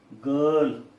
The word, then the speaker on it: girl: Then it is a girl. As we see from the phonetic transcription, R is not pronounced.